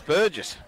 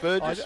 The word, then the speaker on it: Burgess: That's Burgess. Yeah, that is a surprise. I mean, I'm not sure if it's Burgess or Bird. Burgess. Is it Burge? Burgess. It is pronounced Burgess.